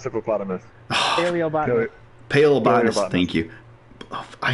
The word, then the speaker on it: paleobotanist: This is our phlebotomist. Hippopotamus. Plebonist. Pronounced hippopotamus. Paleobotanist.